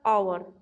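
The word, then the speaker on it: hour: एच का हुआ है लेकिन एच यहाँ पर साइलेंट है, यहाँ पर आवर, एन आवर to reach my aunt सो, इसलिए यहाँ पर एन लगा है क्योंकि एच साइलेंट है और इसको हम आवर बोल रहे हैं, ठीक है।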